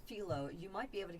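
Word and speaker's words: Philo: with now there is a service it's called filo you might be able to get it out there too it's spelled p-h-i-l-o yeah and you can get different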